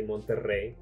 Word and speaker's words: Monterrey: isn't your native language can you roll your r's and say Monterrey there you go you